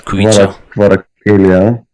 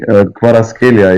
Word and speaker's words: Kvaratskhelia: Anguissa, Lobotka, and then the hard prospect on the left, which is Kvaratskhelia. Okay. Or Kvaratskhelia, yeah.